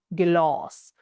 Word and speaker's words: glas: If we have this, for example, we have glas, we have one S, so the A, the A, the vowel is pronounced long, glas, meaning glass.